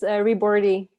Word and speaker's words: Ribordy: how to pronounce it yeah it's french it's reborty okay and in french how